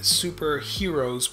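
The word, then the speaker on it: HxEros: next up we've got the superheroes but it's spelled actually H X er OS so sort of a play on heroes with pervertedness and hentai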